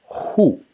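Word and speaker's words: 户: The first element is this element over here, which is pronounced hu.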